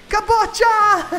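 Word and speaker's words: kaboċċa: Yeah, it's pronounced kabocha, so it's with an emphasis on the ch.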